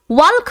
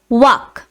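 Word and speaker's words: walk: অনেকেই আমরা ওয়াল্ক বলে প্রোনাউন্স করি, কিন্তু সেটা ভুল। এর সঠিক প্রোনাউন্সিয়েশন হচ্ছে ওয়াক।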